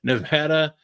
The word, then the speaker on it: Nevada: Anyway, so the only two jobs that are still open is Nevada, better say it correctly, Nevada and Troy are the only two jobs on the FBS level that are still open right now.